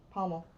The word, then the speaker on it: pommel: What is Pomelo. that? Yeah, it's like Pomelo. What's that how you say it? Okay, it's not pomelo. It's not pomelo. It's not pomelo. It's Uh-huh. pomelo. It's pommel. Pommel.